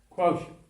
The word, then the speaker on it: quotient: Rhymes with ocean. Quotient.